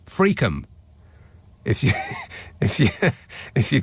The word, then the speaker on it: Friockheim: in Plymouth says uh friockheim in Angus is pronounced fream if you if if